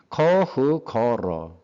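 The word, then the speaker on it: 可口可乐: 이게 중국 발음으로는 커흐거러랍니다. 비슷한가요? 코카콜라? 커흐거러.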